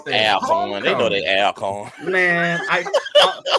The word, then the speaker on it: Alcorn: in a driving seat, particularly with TSU upsetting Alcorn State Alcorn State for Alcorn. Yeah, please say that right. Please say that right. Alcorn.